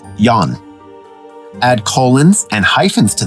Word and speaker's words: Jan: It may take a little imagination to make the transition, however, such as understanding that the name Jan in Scandinavian countries is masculine and is pronounced yan.